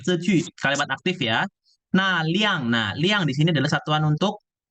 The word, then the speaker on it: 辆: Nah, liang, dibacanya liang, nada keempat. Ya, nada keempat.